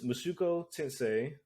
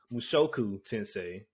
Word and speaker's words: Mushoku Tensei: list today which is mushuko tensei mushoku i'm sorry i think i pronounced that wrong last time mushoku tensei episode 13 episode 14